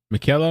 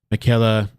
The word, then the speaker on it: Michaelle: screen here so uh I believe it's pronounced uh Michaela I'm gonna play it